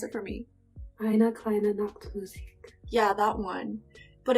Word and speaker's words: Eine kleine Nachtmusik: Peyton, please pronounce it for me. Eine kleine Nachtmusik.